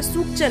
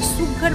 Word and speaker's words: সুঘর: আমার প্রোনাউন্সিয়েশনটা একটু ভুল হয়েছিল। এটা সুচ্চার না, সুঘর বাগিচা।